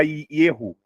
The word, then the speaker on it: Yeho: Então aqui está Ierro. Ierro seria o trigrama quando inicia o substantivo e Yarro seria o trigrama quando ele finaliza um substantivo.